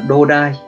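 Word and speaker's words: 土台: Thì cách đọc của nó sẽ là đô đai.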